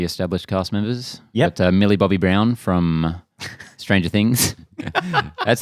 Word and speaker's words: Millie Bobby Brown: Got, Millie Bobby Brown from Stranger Things. That's how it's pronounced. I know. Millie Bobby Brown.